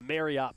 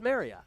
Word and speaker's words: Marriott: But they got into the topic of Marriott points, okay?